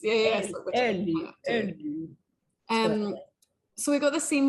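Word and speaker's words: Eli: I mean, I think it's like Ellie, but they say it with a bit of a Swedish accent. Yes. Ellie.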